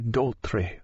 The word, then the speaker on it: Doultry: "Annie Doultry rhymes with poultry," he repeated a number of times, testing his ear-plugs of candle wax as he screwed them in.